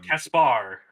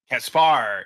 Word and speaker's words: Caspar: And h they pronounce it C uh um Caspar. Caspar.